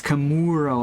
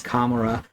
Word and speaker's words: Kamura: Like how he says Camuro and everyone there says Kamura. It's actually most people even in the other village say it wrong.